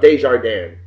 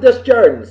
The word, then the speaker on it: Desjardins: I always thought it was Desjardins, but you pronounce it Desjardins, so that's how you pronounce it, and that's what we go with.